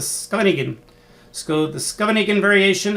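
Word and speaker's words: Scheveningen: play e6 i think my friends in europe have told me to pronounce this the scanigan very variation i used to call it the shevanigan but they said no no no dan it's the scanigan school the scuba negan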